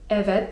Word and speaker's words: evet: 'Tak' to po turecku: evet (czyt. ewet) evet (czyt.